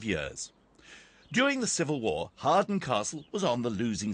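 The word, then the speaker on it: Hawarden: dot I'm very quickly at the first castle pronounced Harden this is the ruin of a Norman stronghold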